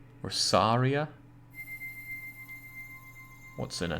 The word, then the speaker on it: Saria: How Jake pronounces Saria cuts deep into me. I always pronounce it with a long A. What, Saria? Or Saria?